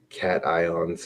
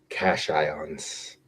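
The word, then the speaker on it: cation: Even if he likes to pronounce cat ions as cash ions or cashions is what he said, cashions.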